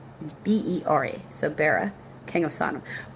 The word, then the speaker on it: Bera: B e r b e r a.